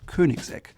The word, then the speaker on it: Koenigsegg: Named after its founder, Christian von Koenigsegg, it's called Koenigsegg. Now you could think it might be called Koenigsegg, but it's a little softer. It's OE in German or Swedish means Ö, Koenigsegg.